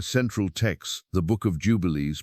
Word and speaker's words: Jubilees: One of their central texts, the Book of Jubilees, pronounced Jo-Ju-O-B-Lees, fiercely attacked the lunar calendar and insisted